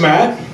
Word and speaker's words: Matt: So my name's Matt. It's pretty easy to remember because it rhymes with fat, which, let's not kid